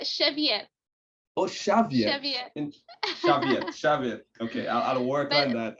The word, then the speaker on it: Xavier: your last name incorrectly how do you pronounce that in portuguese uh cheviot okay i'll work on